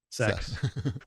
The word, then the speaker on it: CeX: It's CEX, but it's pronounced sex.